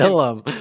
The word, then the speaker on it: Ilum: You got It's so much pronounced fucking Ilum.